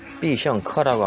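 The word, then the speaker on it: 必胜客: 피자헛은 비성커라고 합니다.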